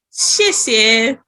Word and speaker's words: 谢谢: 谢谢. Okay. Shishe.